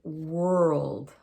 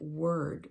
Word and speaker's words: world: The world has that L in it, and we almost make it sound like 3 syllables. World, world. But we run it together, so it's world.